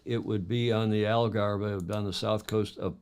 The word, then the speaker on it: Algarve: gem on The Algarve this is pronounced by angles algara by the locals and the the rata